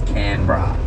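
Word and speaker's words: Canberra: right which these days is CRA all right it's spelled can but everyone just says canra like canab bra you know yeah CRA just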